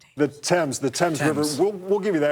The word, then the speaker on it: Thames: The Dames? The Thames River. We'll give you that. It was just a mispronunciation.